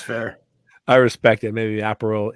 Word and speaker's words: Aperol: Maybe Aperol. Is it Aperol? Apero? How do you say that word? Aperol. Yeah. It is Aperol. Yeah, you got it.